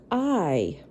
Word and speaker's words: eye: right here is her eye i e y e i now that is pronounced just like the letter i but there are no i's in that word so you're just gonna